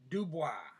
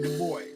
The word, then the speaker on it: Du Bois: In English, we like to say his name as Du Bois, but that's because we don't know French anymore. So we call him Du Bois, but technically the name is Dubois.